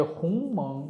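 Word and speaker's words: 鸿蒙: 그 홍몽이 그런 이제 홍멍 이렇게 이제 중국사람들 발음을 하는데 영어로는 하모니의라고 또 이렇게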